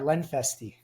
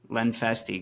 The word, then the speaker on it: Lenfestey: So, without further ado, here's my interview with Lenfesty. how's it going, Yash? Good to see you. Good to see you, brother. Am I pronouncing your last name correctly? You are. Lenfesty. Lenfesty. Great.